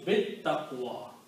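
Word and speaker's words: بالتقوى: So now you recite, lam was not pronounced, so it becomes bit taqwa, that's the word in the Quran.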